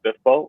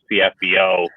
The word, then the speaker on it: SPFBO: it do you say spiffbo or do you say fcfbo which is the wrong way of saying it uh so top top